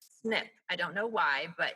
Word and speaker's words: SNP: tempted to say oh snp no actually it's pronounced snip i don't know why but in genetic genealogy the letters snp is pronounced snip um it stands for